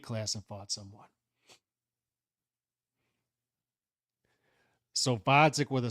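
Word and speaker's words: Gvozdyk: Instead, we get Vodzik with a silent G.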